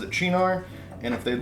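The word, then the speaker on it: Cynar: also it is pronounced chinar because that's how you'd pronounce it if it was an Italian word I take slight umbrage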